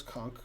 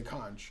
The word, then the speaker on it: conch: Most people don't pronounce conch correctly. It is funny to say conch, I must admit. If somebody hits you with a conch, right, then you got conked on the head.